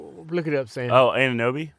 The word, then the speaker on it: Anunoby: I can't pronounce his name, man. The forward. Look it up, Sam. Oh, Anunoby? Anunoby, yeah.